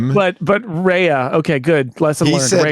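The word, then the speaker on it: Rhea: By the by the way, I uh I am very taking great pains to pronounce it. Rehea Seahhorn. Okay. Because I pronounced it Ria last time and I got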